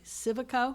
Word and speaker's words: Civico: Would you propose any further negotiations or changes in the planned development of the Waterfield lot by Civico? Did I say that right? You did say it right, yes.